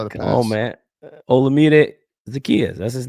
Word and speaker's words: Olamide Zaccheaus: Olamide Zaccheaus.